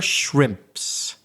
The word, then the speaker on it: shrimp: For example, we had the word earlier shrimps. That's not easy to say. So, how can we break that down? Well, take away everything after the first initial sound. So, we could say shrimp.